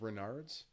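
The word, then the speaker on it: Raynaud's: forget this she had I think it's pronounced Renard's which is like a circulation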